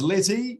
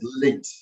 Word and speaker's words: LETE: and so you founded is it is it pronounced ly or leit or it's leit so it's backend athlete El um so so